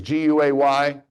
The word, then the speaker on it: Guay: My name is Guay, pronounced Gay like Marvin, so you won't forget now, right?